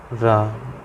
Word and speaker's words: रामः: जैसे हमने कोई शब्द लिख दिया यहाँ पर, राम, ये विसर्ग लगा दी, ये होते हैं विसर्ग। ठीक, इसका उच्चारण हम क्या बोलते हैं? हा। अगर हम इसको पूरा पढ़ेंगे तो क्या बोलेंगे? रामः। क्या? रामः। समझ गए?